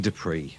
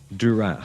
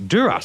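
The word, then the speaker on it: Duris: of your man Romain Dupree, as I say. What did you say his surname was? Duras, sorry. Duras, like the House of Duras in Star Trek.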